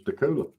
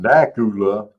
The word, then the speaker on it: Dacula: It's Decula. Right? It's not Dacula, it's Decula. Decula. It's C-U-L-A, Cula.